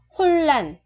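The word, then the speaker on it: 혼란: Khi giữ nguyên thì hai chữ R gặp nhau thì cái chữ thứ hai mình phải đọc là L. Chỗ này mình đọc là L ha. Chỗ này thì mình đổi thành R thành hun lần. Không phải là hun lần mà là hun lần, hỗn loạn.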